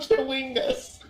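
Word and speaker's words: Chwingas: What Chewingas? That's their name. That's their name. I'm looking at the pronunciation guide.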